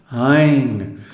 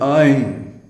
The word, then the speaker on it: ऐं: Ain. We have the English word I, which is pronounced almost identical with Ain.